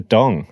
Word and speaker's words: dong: not the dollar Vietnam dollar no almost first syllables right I don't know Darren no it's it is the dong I am reliably informed gosh this is news